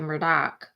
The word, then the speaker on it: Murdaugh: uh the murta Murdoch it's spelled Murtaugh but we say Murdock because that's how they say it in South kakalak in the low country so Alex team had